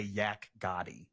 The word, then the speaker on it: Yak Gotti: Yak Gotti.